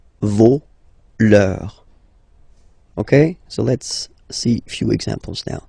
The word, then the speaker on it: vos: Vos, you don't pronounce it. Leur. Okay, so if we say that one more time, it's me, te, se, and then nos, vos, leur.